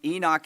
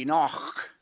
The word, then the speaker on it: Enoch: Now, uh real quick here, there are different ways to pronounce his name. Enoch is the way that I grew up hearing it. Um Josh tells me that in Hebrew it would be Enoch.